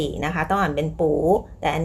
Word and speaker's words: 不: คะ ต่อ ไป ค่ะ ปู้ ตัว ปู้ ตาม ด้วย เสียง 1 นะ คะ ปู้ ตัว ไม่ มาก